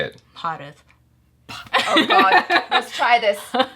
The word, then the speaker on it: Bharat: Like diaphragm area, the H sound. It's if you over enunciate, you'll say it right. So like, imagine the h coming out. It's like going Bharat.